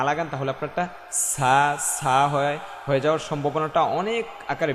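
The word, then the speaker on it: ح: জ বলব না জ না জ হা এটা কিন্তু হা না এটা হা চাপিয়ে বলতে হবে হ্যা এটা হচ্ছে হা আমাদের পার্থক্য বুঝতে হবে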